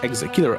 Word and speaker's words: ExeKiller: Wishlist Exakiller on Steam. All right, that was the trailer for Exacillar. That is how it's pronounced.